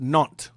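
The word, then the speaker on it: Nantes: think it's called ntis It's pronounced non it's French it's a a French area it's called non okay this is a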